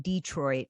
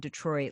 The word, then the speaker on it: Detroit: to know about you by saying Detroit not Detroit like a lot of people say these days like that says